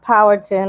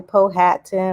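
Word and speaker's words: Powhatan: language and it's pronounced power ttin I know a lot of people say po hattin or pattin it's power like power the TV show but Power like we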